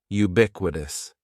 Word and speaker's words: ubiquitous: The first word is ubiquitous, and ubiquitous has 4 syllables. That first syllable is just like you're saying the letter U, ubiquitous, and the stress is going to be on that second syllable, ubiquitous, ubiquitous.